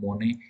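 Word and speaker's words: Manet: और influenced artist like, अब इनके नाम कुछ लिखे लेकिन इनका प्रोनाउंसिएशन अलग है इसलिए यहाँ पे लिखा हुआ है माने। माने नाम के जो आर्टिस्ट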